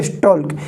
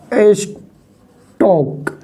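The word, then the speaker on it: stalk: इसका नाम क्या है बॉडी बॉडी स्टॉक देखो एल साइलेंट है इसमें एल साइलेंट है इसको बोलते हैं बॉडी स्टॉक और यहां से होता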